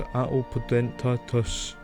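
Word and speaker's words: Atopodentatus: We move on to Atelpodentatus.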